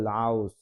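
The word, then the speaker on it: 라오스: আছে লাউস মানে লাউস রিউলটা শুরুতে থাকলে কিছুটা র আর ল এর মাঝামাঝি উচ্চারণ করে থাকে কোরিয়ানরা এটাকে বলবে লাউস লাউস এরপরে আছে মঙ্গল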